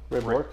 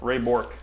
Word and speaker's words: Ray Bourque: Ray Bourque. Ray Bourque.